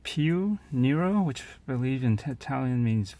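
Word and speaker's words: Più Nero: it's a swatch against pronounced peel Nero which believed in Italian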